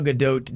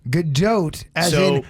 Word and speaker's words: Gadot: name is gal gadot gadot goat if you're saying that that is wrong you're telling the woman who has the name that she's saying her own name wrong so there you go kevin you're just wrong because she's not french she's israeli chemical yelled at saying